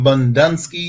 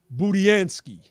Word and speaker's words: Budiansky: Yeah, that's by Stephen Bundunsky. Is that how you say his name? Budiansky. Yeah, very good.